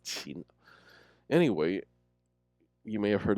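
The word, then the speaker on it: 秦: he gave China its name, the Qin dynasty, pronounced Qin.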